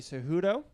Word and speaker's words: Cejudo: If the fighters in a title fight this weekend, you got DJ versus Henry Cejudo.